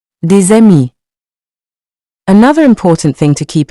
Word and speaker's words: des amis: Des amis. Here, the S becomes a Z sound. Let's say it together. Des amis. Des amis.